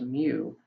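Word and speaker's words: μ: the mean the population mean is written as mu which is how you pronounce this little u looking thing whereas for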